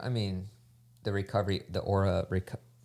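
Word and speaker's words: Oura: I pronounce as aura. Yeah. But that is spelled o u r a.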